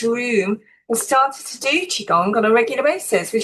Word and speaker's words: Qigong: that I love because so many people struggle with how to pronounce it. It is Qigong.